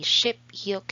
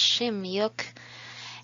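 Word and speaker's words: 십육: 15 is ship o 16 ish the sound changes not really ship yolk it's shim yuk and ship chill for 17.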